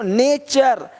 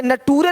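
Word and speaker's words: nature: देखो नेचर, यहाँ पे नटूरे नहीं बोलते, नटूरे नहीं, नेच, है ना।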